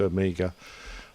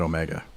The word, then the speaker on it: Omega: I think there were probably 3 airplanes in the world, commercial airplanes, that still used Amiga. Omega. Okay. We pronounce it Omega.